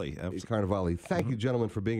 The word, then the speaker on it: Carnevale: artists, Robert Park, and uh gallery director Carnival. Yes. Yes. Good morning, Alan. Good morning. I pronounced it right. You did. Yes. You did very well on that. I'm working at it. That's awesome. Yes. Carnival.